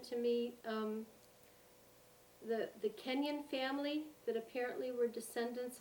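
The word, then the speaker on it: Kenyon: you also mentioned to me um the the kenyan family that apparently were descendants of joseph corn who is it kenyans you better spell it for me k-e-n-y-o-n oh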